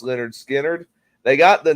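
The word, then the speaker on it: Lynyrd Skynyrd: But anyway, they released their first album in 1973 called Pronounced Leonard Skinner.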